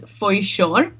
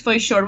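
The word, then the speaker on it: Foișor: We have this this letter in Romanian language. It's sh, like bush. Yeah. The sh at the end, and it's just like an S with like a comma underneath, and that's how it's spelled.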